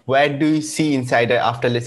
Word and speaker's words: Ensydr: platform provides interesting so i really like the spelling of insider so like it's not inside a ein site it's a en like you spell it for me yes yes it's e n s y d r dot com because of